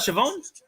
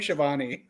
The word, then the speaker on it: Schiavone: How do you say his name? Tony Schiavone. Oh, it's not Siobhan? Not unless you're in France, maybe, but it's Tony Schiavone.